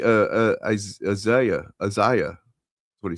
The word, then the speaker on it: Isaiah: Yes, he mispronounced Isa. Exactly. I What you say? Uh, Isaiah.